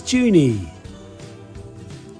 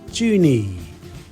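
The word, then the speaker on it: Juni: month of May is may may may it's pronounced very similar but the spelling is different the Indonesian word for June is juny juny juny obviously there's a difference there with the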